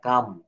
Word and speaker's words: calm: থাকলে এল অনুচ্চারিত থাকে, যেমন CALM, এখানে এল সাইলেন্ট লেটার, কাম। এটা কিন্তু আমরা অনেকে ভুল করে ক্লাম বলে বেশি, নো, এটা কাম।